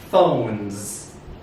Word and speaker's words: phones: Number 2, Z, phones.